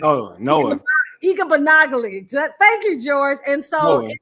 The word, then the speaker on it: Igbinoghene: I can't even pronounce his name. Igbinoghene. Oh, Noah. Igbinoghene.